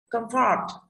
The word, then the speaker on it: comfort: Comfort, comfort âm ơ là khâm rồi, fort gọi rơi vào âm tiết thứ hai.